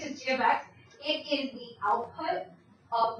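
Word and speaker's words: g(x): You say this as g of x. That's what how it's said out loud.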